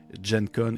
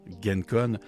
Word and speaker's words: Gen Con: La première étant que je me suis fait dire en commentaire que ça se prononçait Jencon et non Gencon.